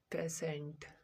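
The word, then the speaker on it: patient: तीसरा example, पेशेंट। टी के जगह क्या चीज का उच्चारण आ रहा है, आई ई का। टी की जगह उच्चारण आई ई आ रहा है, पेशेंट क्या आ जाएगा, सो। उच्चारण में सो आता है, पेशेंट।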